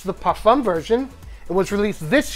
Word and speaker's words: parfum: Parfum. The M is silent, Carlos.